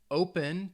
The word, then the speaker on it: open: verb open all right open to open something has two syllables but in that case the stress is on that first syllable that o o pen